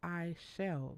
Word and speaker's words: Aichelle: It's like, no, it's I shall.